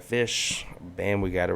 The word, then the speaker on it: Ghoti: ti like a nation it would be pronounced just like fish bam we got it